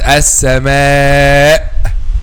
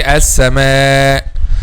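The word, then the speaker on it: السماء: Not making clear like this. No, they say as-sama. So when someone hear them, they don't know whether there is a hamza or not. Okay, but this is wrong. You have to make it clear 100%.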